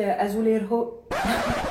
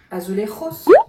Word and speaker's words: azulejos: Je voulais mettre voilà, des petits azuleros. Azuleros. Azuleros. Mais parle espagnol. N'essaye pas de la prononcer à la française. Azulejos.